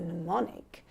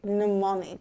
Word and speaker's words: mnemonic: that rhyme as a mnemonic. There we go. I see. Mnemonic. Mnemonic. Yeah. These silent letters, these ones. They're so unnecessary. They are wasting my pen.